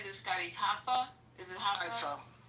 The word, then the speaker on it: Haifa: Is it Haifa? Haifa.